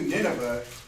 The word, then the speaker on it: Nineveh: Right, so get up, Jonah, go preach to Nineveh. Right? Or Nineve is really how it's pronounced.